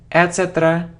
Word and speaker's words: etc.: It isn't etc., etc. or etc., it's etc., etc., etc. So the stress is on this syllable, etc., etc., not etc., no.